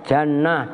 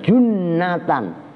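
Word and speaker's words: جُنَّة: huruf eh harokatin lu Bacanya apa no he itu baca Jannah junah jinnah yang benar junnatan tasdid jimnya junatan pada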